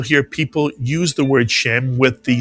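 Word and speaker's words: שם: You'll very often hear this word read as shem rather than shame.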